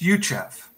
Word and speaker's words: Youcheff: quite an honor so my family name is pronounced yuchef at least that's how we pronounce it today and the only people